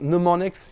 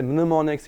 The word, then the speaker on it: mnemonics: in English it's usually in America at least pronounce often like mnemonics you don't really hear the M anymore English people often still say mnemonics you still hear it a bit it comes from the